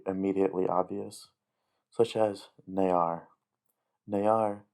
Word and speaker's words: ne'ar: Ne'ar means my, which in Mando'a is ner. So the only difference here is that it adds an extra syllable.